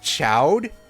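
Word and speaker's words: Chaud: His last name is actually Chode. His first name, his full name is Eugene Chode, or if it was a French word, it would be pronounced Cho, as I've said before.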